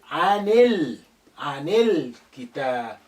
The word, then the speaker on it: عن الكتاب: Again, this alif is silent because it's not at the beginning. The lam retains its sukun because the kaf is a moon letter, it's not a sun letter.